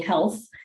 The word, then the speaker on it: HLTH: I'll start with Janna Guinen, who's the Executive Director of the Health Foundation.